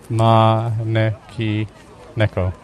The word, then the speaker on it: Maneki Neko: Manki Neko. Manki Neko. Thanks, Evelyn. Maneki Neko.